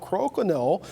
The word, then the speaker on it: Crokinole: People pronounce it different, but hey, it's Crokinole.